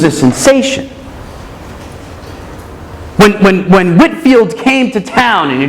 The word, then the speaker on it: Whitefield: guy named George Whitfield spelled Whitefield pronounced Whitfield showed up in America